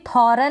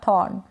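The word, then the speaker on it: thorn: आर को बिल्कुल मामूली सा प्रोनाउंस करें, या फिर इसको करें ही ना, थॉर्न या थॉर्न। तो दोनों ही तरीके से आप प्रोनाउंस कर सकते हैं।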